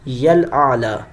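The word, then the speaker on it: الأعلى: سبحان ربی یل اعلیٰ, یل اعلیٰ, اعلیٰ اعلیٰ نہیں کرنا بلکہ اعلیٰ, عین کی آواز نکلے.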